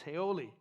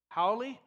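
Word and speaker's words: haole: a word for us i don't know how to say it correctly it's heioli haoli oh you know this word you be one no okay howly so those of you that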